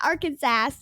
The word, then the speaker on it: Arkansas: Arkansas oh yeah Arkansas per state code the only acceptable pronunciation is in three syllables with the final s being silent the a in each syllable with the Italian sound and the accent on the first and last syllables I'm not exactly sure